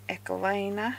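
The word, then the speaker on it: Ecoline: so I've got my echo liner because that's apparently how you pronounce it pens so I'm just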